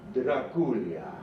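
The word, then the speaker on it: Drăculea: of the dragon and in Romanian that's pronounced Dracula we just say Dracula here but dulia was this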